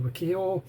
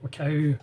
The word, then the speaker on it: Wakao: his films, and that's Ayako Wakao, or Wakao, whichever way you want to pronounce it.